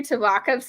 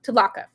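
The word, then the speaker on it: Tvlakv: I wonder how the slave master Tavlakov's name was pronounced in the audiobook. Oh, Tavlakov.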